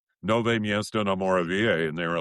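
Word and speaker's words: Nové Město na Moravě: Nove miesto no moravia."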